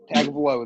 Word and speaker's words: Tagovailoa: Tua, I'm just calling him Tua because I always mispronounce his last name. Tagovailoa. Tagovailoa.